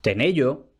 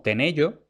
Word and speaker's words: tenello: a la primera pregunta lo que yo he pronunciado antes como tenello propiamente sería tener yo y ahora una de